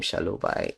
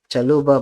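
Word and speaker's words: Chalobah: I don't know why I pronounce his name shalubai it's supposed to be challenges chaluba might leave the club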